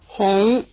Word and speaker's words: Hóng: Hóng, Hóng, Hóng Notice that even though its spelled the same, this does not sound much like the English vowel we use for "Hong Kong". It sounds more like the short double-o vowel in "hook". About the only word with this sound spelled with a single O in English is "woman".